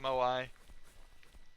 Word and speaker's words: Moai: Moai heads, or Moa heads. I recently heard they were pronounced Moai, but I've always called them Moa.